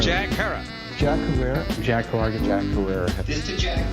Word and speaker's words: Herer: He likes to say it rhymes with terror. Jack Herer.